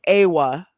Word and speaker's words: Awa: so, oh, I'm sorry, Awa, because I've been corrected on how to say it. Man. You know, because it's the A. Awa. A in Awa.